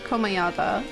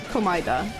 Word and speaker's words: Komaeda: English pronounces it Komayada. Jesus. Komaida. While Japanese pronounce it to Komaida.